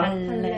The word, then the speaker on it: 반례: 쓰기로는 반대되는 예라고 해서 반례라고 있는데 읽을 때는 뭐라고 읽어야 돼요? 발음이 너무 힘들잖아. 발레. 그럼 자음동화에 의해서 발레라고 불러요.